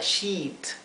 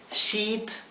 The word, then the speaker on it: sheet: es una palabra engañosa porque si no pronuncian esto bien sh con una I como si fuera una I larga shit si no pronuncian bien estarían pronunciando esta que es una palabrota verdad por lo tanto